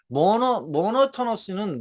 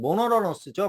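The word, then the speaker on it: monotonous: 모노토너스는 모노러너스죠. 모노러너스. 보통 T를 영어에서는 어, 잘 이렇게 이너처럼 이너내셔널 할 때 인터내셔널이라고 안 하니까 이렇게 이너 이렇게 일 발음이 나니까 이것도 똑같아요. 모노러러스 이렇게 돼요. 모노러러스 이렇게 된다.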